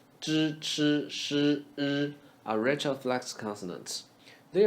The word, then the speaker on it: 吃: 吃饭 Chi is simply ch with vocal cord vibration. Chi.